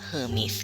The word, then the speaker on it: Hermes: กับ เทพ เฮอร์มิส ค่ะ เขียน เหมือน แอร์เมส นะ คะ แต่ ว่า อ่าน ว่า Hermes ค่ะ เทพ เฮอร์มิส นะ คะ